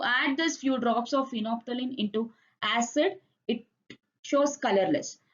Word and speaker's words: phenolphthalein: It is phenolphthalein. L is silent.